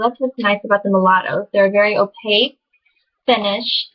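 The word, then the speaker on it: Molotow: So that's what's nice about the mulattoes. They're a very opaque finish, and they're a good brand too. I've heard great things about these. Mulatto. It's spelled M-O-L-O-T-O-W.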